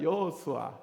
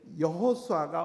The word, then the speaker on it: 여호수아: 근데 이제 원래 원래 오리지널 히브리어 발음은 여호수아입니다. 한번 해 봅시다. 여호수아. 여호수아.